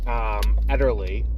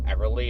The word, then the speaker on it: Ederle: movie about Trudy Ederle, which is how you pronounce her name. In the movie, they pronounce it fairly regularly as Everly, and I was like, oh, like the Everly brothers. And no, when they show her name, it's Ederly, so I guess whatever.